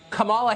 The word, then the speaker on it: Kamala: um host on Fox her name is pronounced comma like the punctuation mark La comma okay seriously